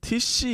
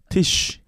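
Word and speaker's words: Tisch: 그럼 TC를 TC라고 하는데 뭐 잘못했습니까? 티쉬. 아 이러다 또 티슈. TISSCH 티쉬. 네.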